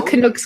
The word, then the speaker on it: Canuck: Ghoulies, the top, all the regulars, all the Canucks crowd. You Americans saying Canucks. Canucks? Knock. Canuck. Like a hockey puck. Like a duck.